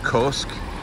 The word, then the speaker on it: Köşk: at this town called I'm going to pronounce it kosk k-o-s-k the O has two little dots on top of it looking for a place